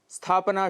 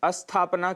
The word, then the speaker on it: स्थापना: स्थापना शुद्ध उच्चारण है, जबकि अशुद्ध उच्चारण हम अस्थापना कर देते हैं, जिसका अर्थ विपरीत है, जिस अर्थात स्थापना न होना, स्टेबल न होना, एस्टैब्लिश न होना।